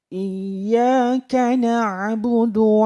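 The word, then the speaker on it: إِيَّاكَ نَعْبُدُ: jeda enak bodoh tapi Nam bodoh saya ulang iyyaka nabudu waiyyaaka jaim sekarang kita lanjutkan ke ayat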